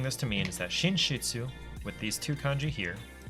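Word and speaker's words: 寝室: which is uh mudo but because they're together it's shinshitsu which is the OWN reading which is shin shiitsu cheese it sort of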